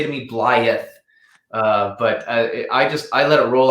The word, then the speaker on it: Blyth: Blyth, or is it Blyth? This is a tough one. I'm going to refer to the Blyth local. I say Blyth. It's Blyth. Definitely not Blyth.